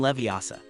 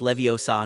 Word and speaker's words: Leviosa: They were learning to make feathers fly with the levitation charm Wingardium Leviosa. After much practice, and after Hermione corrected Ron's pronunciation, it's Leviosa, not Leviosa, she was the first